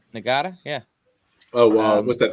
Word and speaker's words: Ngata: Joseph Ngata. Ngata, yeah.